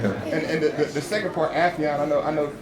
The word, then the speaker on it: Affion: And the second part, Affion, I know. Afion. Afion. Say my name wrong. Afton. With confidence, too.